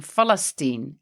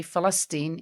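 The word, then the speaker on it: فلسطين: as a B, or in this case, it was changed into an F. So instead of Palestine, it became Falastin. And that is why Arabs will say Falastin instead of Palestine or Palestine.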